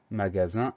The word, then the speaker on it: magasin: On fait attention donc au GA pour avoir le son GA, au son Z qui s'écrit avec un S et au son 1 qui s'écrit avec IN. Magasin, M-A-G-A-S-I-N.